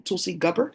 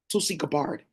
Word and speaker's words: Tulsi Gabbard: Um she is um Tulsi Gabbard. I think that's how they say her name. Tulsi Gabbard.